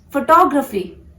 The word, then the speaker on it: photography: This is photography. Photography. You have to focus on the second syllable.